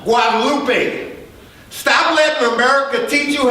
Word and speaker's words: Guadalupe: Just stroll about 7 blocks down Guadalupe. Look at them. And it's pronounced Guadalupe.